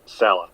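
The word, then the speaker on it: Saleh: guy this they want Salah is that how you pronounce it Taylor yep Salah Salah they like Salah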